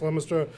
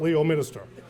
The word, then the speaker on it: Leominster: not Worchester in that Leominster is also pronounced Leominster not lio minister and you and I